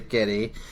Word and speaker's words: Gedde: So I'd say Geddy.